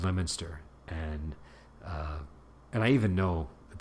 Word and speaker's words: Leominster: So like one that came up was, I think there's a town called Leominster, and I even know that this one is called Leominster, but I forgot, and so I called it Leominster, I think, and I was pretty quickly corrected.